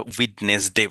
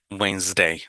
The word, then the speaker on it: Wednesday: ওয়েন্সডে। দেখেন এখানে ডিটা উচ্চারণে হয় না, একজন লাল করে দিয়েছে, আর ইএসটা বোরখের জন্য মতো উচ্চারণ হয়।